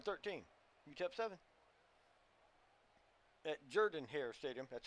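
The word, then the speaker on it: Jordan-Hare: you kept seven at Jordan hair Stadium that's how it's pronounced it's not Jordan here guys it's Jordan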